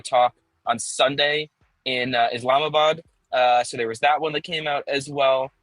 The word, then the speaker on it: Islamabad: Islamabad.